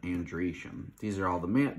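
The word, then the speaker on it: androecium: e-c-i-u-m for genesium and then andresham is basically Andro ecium but andreashem these are all the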